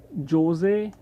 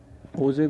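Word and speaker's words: José: और ये जो आपके यहाँ के हेड हैं वो जोजे HO ऐसे ना, वैसे जो इसकी प्रोनाउंसिएशन है वो होजे होती है, ठीक है, ये भी इंपॉर्टेंट चीज़ है।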